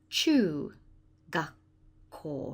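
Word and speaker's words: 中学校: And there it is, and it's pronounced chu. Chu gakko. Remember to put the ko on the end, because there are still apple cores around the school in junior high school.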